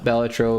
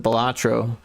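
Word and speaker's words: Balatro: yeah I can see playing uh batro would be cool or at least that's how the dev pronounced it I know everyone else calls it batro and honestly that's how I read it for a long time but then I heard a podcast of the dev talk about apparently batro is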